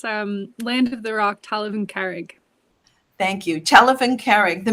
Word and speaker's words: Talamh An Carraig: sure yeah it's um land of the rock talivan carrick thank you telephone carrick the minute you say